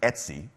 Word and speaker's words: etc: they have a a a directory spelled Etc which if you're hip and with it in the Unix world you pronounce Etsy many Unix creators do